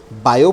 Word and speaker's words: Biot: अब इसमें बायो पढ़ रहा हूँ तो टी साइलेंट रहता है, नाम कंप्लीट बिल्कुल यही है।